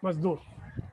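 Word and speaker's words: मज़दूर: Ma is dur, mazdoor. That below ja, one dot is to be kept. The pronunciation will be like Z sound.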